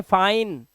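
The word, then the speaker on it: fine: जैसे फाइन, डाइन, माइन, bike, site, ride, like, mic और nice. आई के बाद एक कॉन्सोनेंट और कॉन्सोनेंट के बाद ई लगा हुआ है, तो आई का उच्चारण आई ही होगा।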